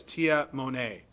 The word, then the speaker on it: Tamane: All right, and then I'm going to go back to it's spelled Tamane Tuiana, but in parents it says Tia Monet.